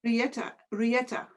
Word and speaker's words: Riëtta: My real Okay, name is Rietta, but that's Rieta. hard. That's hard for American people. And also a younger brother, he couldn't pronounce Rietta, so he said Teta, and that's how appeared.